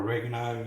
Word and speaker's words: oregano: extra herbs in like oregano or oregano as the Americans say, some basil.